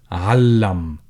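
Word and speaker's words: علّم: Alam becomes allam. So when you add shadda on top of the middle letter, you have to pronounce it a little bit more emphatic and double pronounce it.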